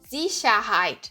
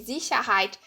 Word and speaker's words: Sicherheit: Que ele tem esse som de Z, principalmente no início, né, das frases e antes de vogais. Então, aqui, Sicherheit, né? Segurança aqui, Sicherheit.